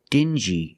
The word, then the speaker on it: dingy: they're pronounced differently example dingy and stingy these two words have the regular n Sound n plus the J like juice together stin G together stingy or d g together dingy this wall is very